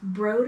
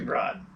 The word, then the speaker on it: Broad: bar and then french broad or bro it should be broad that's exactly how it's spelled actually well i'm sorry